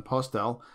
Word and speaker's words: Postel: of this stuff is jon postel or post el depending on how you want to pronounce it he was the editor